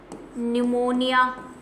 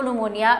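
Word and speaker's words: pneumonia: Full form लिख रही हूं मैं PPLO की, प्लूरो न्यूमोनिया लाइक ऑर्गेनिज्म। ठीक है, जब आप इसको इंग्लिश में पढ़ेंगे, मतलब कहीं जगह इंग्लिश में लिखा हुआ देखेंगे, तो न्यूमोनिया की स्पेलिंग P से शुरू होती है।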